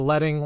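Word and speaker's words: leading: the distance between each line of text it's pronounced letting the name comes from when typesetting was done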